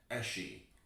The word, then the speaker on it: Esci: Apparently, Italian hobby shops pronounce it esci. Okay, so we were saying it right all along.